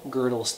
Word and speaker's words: Gödel: mathematics and it's called girdle's theorem now the way you actually spell that is g.o with the outs de el gödel curt girdle was insanely